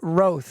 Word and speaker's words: Roth: 10 years before someone told me that it's Ro I think it's like the Demi Moore kind